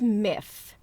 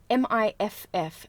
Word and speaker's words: Miff: which I always get wrong, but it is Miff. M-I-F-F, Miff, the Mothman. However, considering I'm constantly getting that name wrong and like messing up my words and